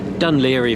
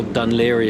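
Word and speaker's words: Dún Laoghaire: with Irish names, whereas with Irish names, Dunleary for instance, go online and look how Dunleary is spelt. It will probably be quite difficult for you to find because it's not spelt in a way that you would imagine.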